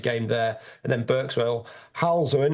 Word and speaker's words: Halesowen: And then Berkswell, Halzowen. Is that how you pronounce Halesowen? Halesowen. Halesowen. We'll go Halesowen.